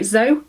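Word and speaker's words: XO: match this is my zo bra spelled like a little kiss and a hug which looks really sweet when you write it down but it's pronounced zo and um yeah so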